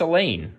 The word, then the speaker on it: Elaine: me about her that's Elaine our reply rhymes with pain she frowns everybody says